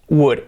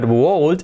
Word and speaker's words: would: pronunciation but it's not volt it's wood wood wood wow it's quite difficult right so how do we pronounce this first of all the l is a mute l muda wouldn't pronounce the